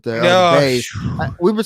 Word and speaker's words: Buys: I don't know, but it's pronounced Bays, even though it's spelled Buys.